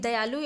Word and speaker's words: the: और यहां पे द के बजाय हम दी प्रोनाउंस करेंगे।